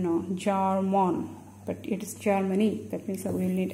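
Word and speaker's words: জার্মানি: So some may pronounce it as Jaromani instead of Germany, right?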